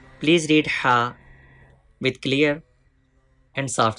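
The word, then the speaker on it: ه: Ha is pronounced from the upper part of the throat.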